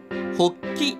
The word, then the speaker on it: 法吉: 落ち着いてるおきち一方松江ではポッキー発起真ん中おっきいですかねですね方に基地と回転ほっきと読むんですうーんその発起中